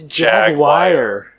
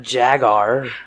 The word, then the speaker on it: Jaguar: do you Jaguar Jaguar it's Jaguar Jaguar okay not Jagr what is this Jaguar